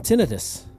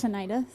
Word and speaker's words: tinnitus: do you pronounce tinnitus tinnitus you can say it all you want that's not the correct way to pronounce it tinnitus you don't want to stress on the first syllable the t syllable tinnitus but um also you